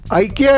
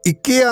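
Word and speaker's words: IKEA: ഐക്കിയ എന്നാണ് ഈ coffee ഷോപ്പിനെ ഇന്ത്യക്കാർ വിളിക്കുന്നത്. സ്വീഡനിലെ ഉച്ചാരണം ഇക്കിയ എന്നാണ്.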